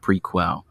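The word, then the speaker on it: Prequelle: It's not prequel or prequel. It's Prequel. It's French. That's how the singer pronounces it.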